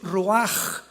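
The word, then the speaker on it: רוח: La palabra para espíritu en el hebreo es la palabra que es roaj, que se escribe rua con ch, pero repito, ese pronuncio pronuncia como J. Roaj.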